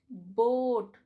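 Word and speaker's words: boat: बोट, द O make the long sound and ए is silent hair.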